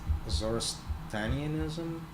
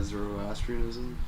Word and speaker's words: Zoroastrianism: at that same time area you had uh azorestanianism i think it's called i forget the pronunciation yeah zoroastrianism yeah and what it what it used what